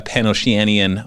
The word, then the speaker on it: Pan-Oceania: It's not Pan-Oceanian. Okay, what is it? There is no N on the end.